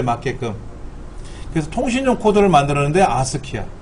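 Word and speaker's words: ASCII: 그래서 통신용 코드를 만들었는데 아스키야. 그거를 아스키라고 읽어요. 아스키.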